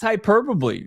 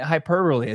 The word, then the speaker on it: hyperbole: ball and I don't I don't think that's hyperboy man I mean it's not hyperbole sorry how I butchered the word but um I mean he's